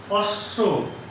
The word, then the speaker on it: অশ্ব: যেমন অশ্ব একটি শব্দ, এই শব্দের শেষে তালব্য স এর সঙ্গে ব ফলা আছে, এই বয়ের উচ্চারণ হবে না, কিন্তু তালব্য স এর উচ্চারণ 2 বার হবে, অশ্ব।